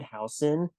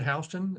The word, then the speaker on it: Houston: right hson absolutely yes H spell like Houston pronounced hon yeah all right so yeah I'll just let you take it from here okay well as Teddy said I'm hon um we met Teddy and I met at